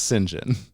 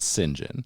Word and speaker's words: St John: how you pronounce that goddamn name it is pronounced singen it's it's spelled St period space j o h n but you pronounce it singen where did you hear this this is just